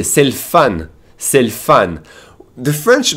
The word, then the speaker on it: c'est le fun: And they, just like us, they will skip the E and pronounce an L apostrophe and say c'est le fun, meaning it's fun.